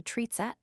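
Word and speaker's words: тридцать: You go up to 30, which is tri desiat, or 3 tens, but generally shortened in pronunciation to tritset, or tritset. All the other tens up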